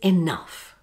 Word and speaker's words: enough: Next is enough. Uff. The uff sound is a combination of the short vowel sound ah and the unvoiced sound f.